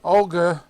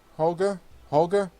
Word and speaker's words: Holger: Technically, Olga, oh not Olga, Holger, is that how you pronounce it?